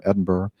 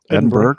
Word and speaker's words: Edinburgh: a car journey from Edinburgh to London and to say is Edinboro I always mispronounce that don't I Edinburgh I know you're fine okay yeah well Barbara edinburg is not Edinburgh right to London and